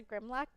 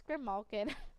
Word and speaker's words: Grimmalkin: Maybe it's a Grimlock thing? All right. Or I think it's Grimmalkin. I always say it wrong. It's Grimmalkin.